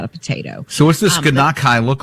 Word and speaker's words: gnocchi: Gnocchi. It's not how it's spelled.